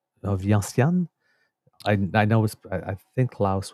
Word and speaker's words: Vientiane: So, but I'm not sure if that's there's an Asian pronunciation to that, or if that's the French pronunciation.